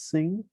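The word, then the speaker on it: 辛: have sing over here you know it's pronounced as sing we represent small items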